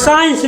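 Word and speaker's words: science: आई ई एन सी साइंस लिखो साइंस एस ई आई ई एन सी यहां सी साइलेंट है कहां पढ़ ले साइंस साइंस मतलब का विज्ञान विज्ञान सी साइलेंट सी साइलेंट और आपका रिजाइन आर ई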